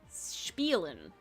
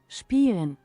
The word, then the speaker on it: spielen: I'm curious if that has the sh noise in it. Because are we just better, we're pronouncing it more closer to its German roots? Maybe. Spielen.